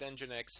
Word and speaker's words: nginx: this more importantly nginx if you don't know what engine x is it's spelled and for some strange reason it's spelled n g i n x uh it's an alternative